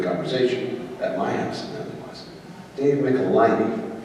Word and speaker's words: Michelinie: David Michelinie. Correct. I'm getting better. By the time Sunday comes around, I'll have it. Michelinie. Like nickel. Yeah. Well, Jim used to say it rhymes with pickle my knee, so.